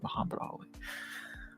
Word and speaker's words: Muhammad Ali: Yes, that's how you're meant to say it, and yes, he is named after that, Muhammad Ali.